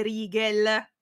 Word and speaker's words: Rigel: una stella che però mi hanno detto Si legge all'araba e quindi sarebbe Rigel a Rigel addirittura come